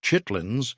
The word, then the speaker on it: chitterlings: Chitterlings, pronounced chitlins by everyone who actually ate them, are pig intestines, cleaned thoroughly, boiled for hours, then fried or boiled again, depending on regional preference.